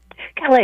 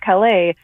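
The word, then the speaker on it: Callais: background on Louisiana um versus is it Cala? Kala. Yeah, that's that's also something I didn't know until this week until hearing oral argument because I was like I was just going to pronounce this any old way. Um, but yes, so now now we I can officially say that it's Louisiana versus Cala that is basically as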